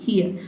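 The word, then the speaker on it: hear: आप आर को साइलेंट रखेंगे तो आप सही-सही प्रोनाउंस करेंगे।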